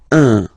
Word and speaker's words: un: Of course, after that you will master it without any problem and without any doubt, but you've got to pronounce it like un.